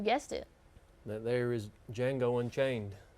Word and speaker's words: Django: That there is Django Unchained, but the D is silent.